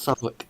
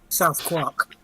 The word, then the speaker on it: Southwark: Yes, it's pronounced Southwark. Yeah. It's Oh. stupid. Okay. I've not even been able to correct them because it's too funny. Okay. The English schools. South Quark.